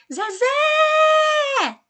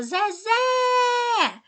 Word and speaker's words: Zezé: Você fala assim, Zezé! Viu que a última sílaba, ela se prolongou? Você falou Zezé! Pois é, essa que se prolonga é a sílaba tônica.